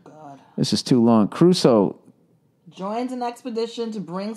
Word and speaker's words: Crusoe: All right, Robinson Crusoe. Crusoe. Huh? Crusoe. The way it's spelled, Crusoe. Robinson Crusoe? Everyone says Robinson Crusoe, but it looks like Crusoe. I say Caruso because I always think of Ray Caruth.